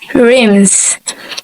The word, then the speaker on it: rims: From the word rim, when we add S, it should be pronounced as rims.